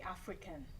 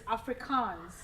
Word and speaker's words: Afrikaans: So tell us a little bit about the Africans. Oh, the Afrikaans. Afrikaans. Sorry, I should pronounce it well. It's Afrikaans.